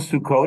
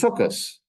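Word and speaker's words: Sukkot: say in modern Hebrew Shabbat but in Yiddish pronunciation or Eastern European Jewish Hebrew it was shabas it wasn't sukot it was sukus it wasn't Sim T it was Sim if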